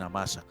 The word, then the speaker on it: Amasa: Hay versiones de la Biblia que dicen Amasa, pero en otros le ponen el acento en la final Amasa.